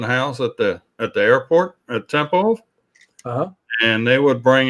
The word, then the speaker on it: Tempelhof: Tempelhof.